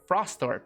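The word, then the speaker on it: Frostthorpe: uh of uh sorry frost throp frost thorpe frostorp that's how you say it there are many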